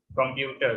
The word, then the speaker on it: computer: the first syllable, and in the word computer, the stress is on the second syllable.